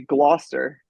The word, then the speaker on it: Gloucester: I believe that would be Gloucester.